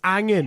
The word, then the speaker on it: hanging: Yeah, but we don't use hanging. We use like there's no H. So Yeah, it's it's angin.